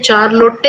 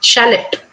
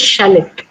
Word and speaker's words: Charlotte: Okay, so you would say, if you go the Kannada way or the Indian way, you would say Charlotte or something like that. But do you know how to pronounce this word? This way, shallot. This is a name of a girl, and the right way to pronounce this word is, this name is shallot.